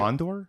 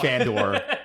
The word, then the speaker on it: Fondor: the Fondor? That's the name of his ship. How do you spell that? Fondor. Oh, I thought it was like F-A-N. I thought it was like Fandor. No.